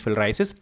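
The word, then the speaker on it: filariasis: फाइलेरिया आमतौर पर बोलते हैं, but real pronunciation is फिलराइसिस।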